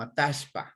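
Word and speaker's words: Atahualpa: Si estamos en el centro, como en la provincia de Chimborazo, o en el centro norte, como la provincia de Pichincha, pronunciamos como Atashpa, Atashpa, ¿ya? Pero si estamos más hacia el sur, pronuncian la doble L clarita, y más hacia el norte también, más clarito la doble L, ¿sí?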